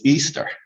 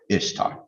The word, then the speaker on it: Ishtar: of the goddess ishtar and that the correct pronunciation of ishtar is easter that of course is not true ishtar is pronounced ishtar just like its spell also contrary to what